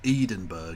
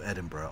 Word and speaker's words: Edinburgh: don't get me wrong when he pronounced it edenburg instead of Edinburgh I nearly [ __